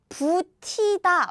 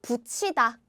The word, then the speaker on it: 붙이다: This is like so the pronunciation is like 부티다, right? 부티다. But now you know it doesn't work that way. So 짠. Long time ago, T was a little hard word for us. Hard pronunciation. So this becomes 치. So 붙이다.